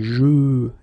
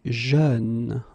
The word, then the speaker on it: jeune: Same thing, you don't say je, you say jeune, okay?